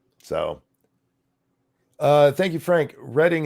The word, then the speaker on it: Reading: uh thank you Frank reading is pronounced uh past tense So reading like the railway that doesn't help me